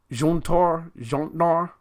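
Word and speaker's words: Jötnar: The J is pronounced as Y. Jotnar. Jotnar. Youtnar.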